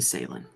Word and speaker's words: Salen: This is Salen. Is that how you pronounce it? Yeah, usually Salen.